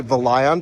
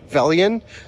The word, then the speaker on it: Velion: I always say Volion, but it's Velian.